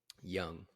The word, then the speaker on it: Jung: last year for Josh Young Josh Young Jung young young so you don't pronounce the J nope Josh Young yeah